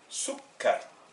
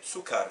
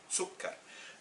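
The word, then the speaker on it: سكّر: Ça nous fait sukkar. Et donc, si je ne mets pas la shadda, je dirais sukkar, ce qui n'est pas la prononciation arabe. Sukkar.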